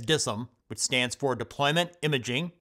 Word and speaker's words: DISM: repair issues and errors is dism often pronounced as dissum which stands for deployment